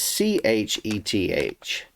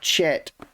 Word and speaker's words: Heth: stuck out to me heth because in the csb the word is c-h-e-t-h or chet instead of yeah chet instead of heth so h-e-t-h or c-h-e-t-h